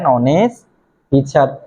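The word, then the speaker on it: honest: pronunciation করো এটাকে তুমি হনেস্ট বলতে পারবা না এ প্রনান্সিয়েশনটা কি অনেস্ট তার মানে তুমি এখানে এইচ এর উচ্চারণটা করো না তুমি উচ্চারণটা কর কোথা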